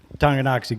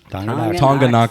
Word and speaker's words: Tonganoxie: Tonganoxie, Kansas. Yeah. That's where- Tonganoxie? Tonganoxie. Tonganoxie. Yeah, Tonganoxie.